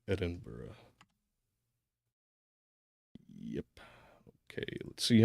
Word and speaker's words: Edinburgh: my journey we left Edinburg in a week I hope I'm pronouncing that right feel like it's probably Edinburgh yep okay let's see